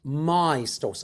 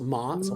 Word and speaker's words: maestoso: And I'm going to ask you to try and pronounce it as well. Oh, maestoso. So close. Maestoso. So Maestoso.